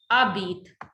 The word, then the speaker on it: habites: So jabit, tu, abit. Es is there, but S is silent.